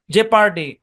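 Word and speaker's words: jeopardy: Silent ও এর ধরাবাধা কোনো rule নাই, জাস্ট লিস্ট মনে রাখতে হবে। People, লেপার্ড, জেপার্ডি, colonel.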